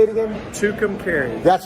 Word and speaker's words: Tucumcari: yeah yeah how do you say it again tucumcari that's right two containers new mexico i i'm